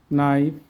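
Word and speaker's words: knife: English ওয়ার্ডে এন এর আগে কে থাকলে কের উচ্চারণ সাইলেন্ট থাকে, অনুচ্চারিত থাকে। নি, not, NEET, no, night, নাইফ, knowledge. আমরা এবার অর্থগুলো শিখি।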